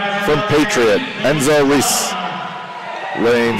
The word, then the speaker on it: Ruiz: Oh, Reese? Ruiz? It could be Reese. It could be. I have a Reese on my team. Spelled R-U-I-Z.